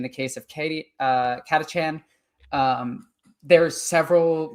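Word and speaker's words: Catachan: in the entire Imperium is called Katachchan or Katakan depending on how you want to pronounce it. I prefer calling it Katachan. So you can get the whole like their Chan like on Chan.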